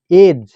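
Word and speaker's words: age: দেখো 1 নম্বর, শব্দের শেষে জিই থাকলে জি এর উচ্চারণ বর্গীর জয়ের মতো হবে। শব্দের শেষে যদি জিই থাকে তাহলে জি এর উচ্চারণ বর্গীর জয়ের মতো হবে। যেমন এজ, এজিই এজ।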